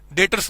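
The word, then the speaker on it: debtors: लिखेंगे मेरे साथ, डेटर्स, यहां टी एक्चुअली साइलेंट है, डेटर्स बोलते हैं इसको, डेटर्स आर पर्सन मतलब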